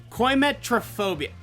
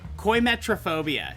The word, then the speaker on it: coimetrophobia: I googled this very specifically because I couldn't pronounce it. Coimetrophobia. Coimetrophobia.